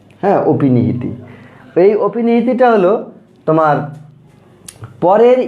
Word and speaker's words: অপিনিহিতি: হ্যাঁ, তা এটার উচ্চারণটা আমরা উচ্চারণ করেছি, এটা অপিনিহিতি না, কিন্তু এটা অয়ের উচ্চারণটা এখানে ও হয়ে যাবে, অর্থাৎ অয়ের সংবৃত উচ্চারণ। হ্যাঁ, অপিনিহিতি।